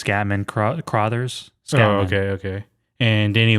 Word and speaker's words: Scatman Crothers: The genre is a psychological horror, and it stars Jack Nicholson, Shelley Duvall, Scottman Crothers, I believe. That's how you say his name? I think it's Scatman Crothers.